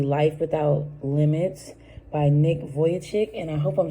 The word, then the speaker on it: Vujicic: Yeah, Vujicic. All right, pronounced Vujicic.